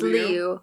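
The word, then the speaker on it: Liu: Uh, Simu Lee, uh, I believe I believe that's how you pronounce his last name or Sim Simu Leo. Um, at whichever one is correct if we find out. It's Leu.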